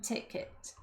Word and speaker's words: ticket: Então, aqui fica, do you want a single or return ticket? Single é ida, return é ida e volta. Cuidado com a pronúncia ticket, é um i curtinho.